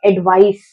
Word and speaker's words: advice: Last में हमको स का साउंड लेकर आना है. एडवाइस, एडवाइस. जहां पर सी है वहां पे हमको एडवाइस लेकर आना है एंड जहां पर एस है वहां पे हमको जेड का साउंड लेकर आना है. एडवाइज, एडवाइज.